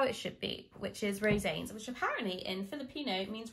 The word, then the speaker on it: Rosanes: Now, I found out his name is pronounced Rosanes. Rosanes.